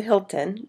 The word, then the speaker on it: Hilton: de Il That's The Hilton but in French Remember You don't pronounce The h so That's Why It Sound so Different de s tré that